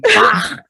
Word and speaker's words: Bach: I was like, Bach. That's actually how you pronounce it.